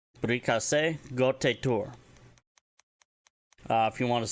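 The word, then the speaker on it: Briikase Gote'tuur: Brikase Gotitur. Standard term for happy birthday in Mandoa. Again, that is actually spelled B-R-I-I-K-A-S-E space G-O-T-E beten T-U-U-R. Brikase Gotitur.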